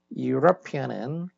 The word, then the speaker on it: European: 그런데 European은 이게 이제 철자는 모음으로 돼 있지만 발음 기호로 따지면 이게 이제 U 이런 발음이어가지고 발음 기호로 보면은 J자처럼 돼 있는 거 J자처럼 U라는 발음이야 U.